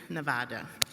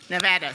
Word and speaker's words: Nevada: So, thank you to all the committee chairs and to IWF Nevada. Nevada, sorry.